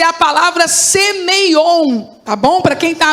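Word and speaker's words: σημεῖον: vezes é a palavra semeion. Tá bom? Para quem tá anotando, você pode escrever como pronuncia, só que termina com a letra N, tá bom?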